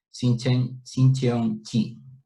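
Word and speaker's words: Shincheonji: es la de la iglesia Sincheon-chi. La J se pronuncia como una chi.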